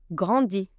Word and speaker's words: grandis: Je grandis. Je grandis. Tu grandis. I tu grandis. Again, letter S is silent for both.